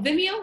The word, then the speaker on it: Vimeo: what's the other video Vimeo Vimeo is how you say it I use a lot